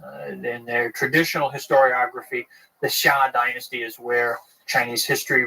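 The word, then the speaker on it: Xia: Chinese history which is called the Sha uh that's spelled x a in the in the modern Western romanization system the pinion system of of spelling Chinese words the Sha uh the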